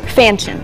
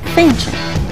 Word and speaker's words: Fanchon: Fanchon. Oh, gosh. Rhymes with mansion with an F. Fanchon.